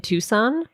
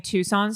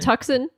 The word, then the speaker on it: Tucson: God can I tell you an em embarrassing Tucson story would love nothing more I had never heard it pronounced out loud before for some reason tux yeah I had only seen the word and